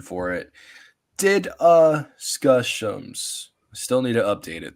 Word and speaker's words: DDiscussioMs: If you have trouble pronouncing this name, again, here's the pronunciation for it. DDiscussioMs.